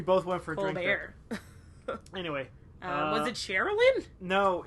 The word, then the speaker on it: Colbert: Why don't you pronounce the L in that ever? Colbert. No, not the T, the L. Colbert?